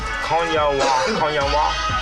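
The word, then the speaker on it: 今夜は: Konya wa.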